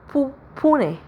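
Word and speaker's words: poignet: मिलता है राइट और इसकी प्रोन्सिएशन हो जाएगी फूने फूने फौने राइट।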